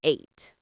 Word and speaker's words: ate: The past of eat is eight. Eight. You mean it sounds exactly like the number eight? 1 2 3. Yes, exactly. The pronunciation is the same.